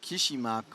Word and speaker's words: Krzysmak: is pronounced more or less like Krzysmak with a Y, like in Linden, not like in Y. Linden. Might be hard for English.